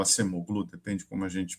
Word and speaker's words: Acemoglu: o o Nobel de Economia, né, o o Acemoglu, o Acemoglu, depende como a gente pronuncia, ele falava, eh, fala, né, por que